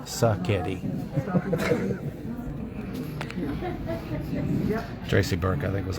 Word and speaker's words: Sacchetti: It's not spaghetti, it's Sacchetti.